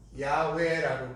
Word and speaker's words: 야훼: 발음으로 말하면 야훼라고 그럽니다. 이걸 발음할 때 야훼라고 그래요.